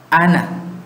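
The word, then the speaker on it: أنا: Ana, ternyata tulisannya panjang pakai alif, tapi pengucapannya pendek. Ana.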